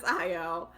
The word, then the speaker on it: Ayo: I have a pronunciation guide that I follow. And it clearly says Ayo.